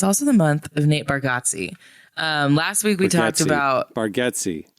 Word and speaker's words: Bargatze: And Nate's like, yeah, but you've always said my name wrong, buddy. So it's Bargatze.